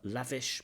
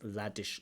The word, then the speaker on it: lavish: wants to use it there's a mispronunciation we should have a VV lavish but it comes out as Ladish lifestyle so it's just a